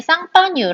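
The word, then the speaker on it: Champagne: 유명한 지적 표시 nn 샴페인 3.0 샴페인은 프랑스의 상파뉴 라는 도시가 있거든요 샴페인 이라 나라 자체가 이제 빵 썸을 상파뉴 똑같을 영어를 똑같아 스펠링을 똑같이 쓰는데 이걸 프랑스 식으로 읽으면 쌍방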